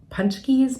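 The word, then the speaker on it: pączki: Donuts that are that we call punchies but they're actually spelled like potsies so those represent Fat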